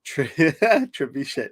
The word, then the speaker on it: trebuchet: She says trebuchet, so like ASMR for the ears.